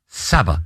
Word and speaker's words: Sabah: And Sabah, rhymes with ABBA, away.